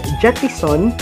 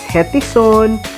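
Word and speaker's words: Gettison: pronouncing my name so sometimes they mistakenly pronounce my name as hetison so i'm i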